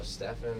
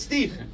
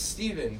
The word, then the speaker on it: Stephen: can people find your social media it's just Stephen could but it's Stephen with at pH and then people don't go Stefan and then it's a whole thing but it's Stephen no it's Stephen but you know it's honestly Steph Curry's fault